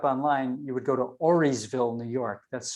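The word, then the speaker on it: Auriesville: look it up online you would go to oreysville new york that's spelled a-u-r-i-e-s ville okay um the mohawk name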